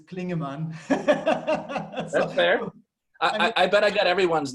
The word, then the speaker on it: Klingemann: have to correct you it's not it's Klingon man I bet I got